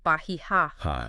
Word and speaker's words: Bahia: Suntex's Bahia Marina, and the locals say Bahia.